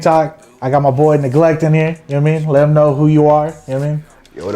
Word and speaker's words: NegleKt: I'm all, is it like neglect? I'm like, but I was like reading it and I was like, but it was kind of spelled weird.